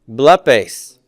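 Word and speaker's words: βλέπεις: Blepes. Blepes. And we're putting this accent on the syllable right before the connecting vowel, personal ending.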